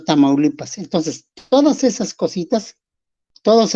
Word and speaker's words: Tamaulipas: hay pueblos, por eso se llamó primero Tamaulipan, y en español dijeron o pudieron pronunciar o lo pronunciaron diciendo Tamaulipas.